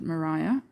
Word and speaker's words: Maria: She pronounces it Mariah.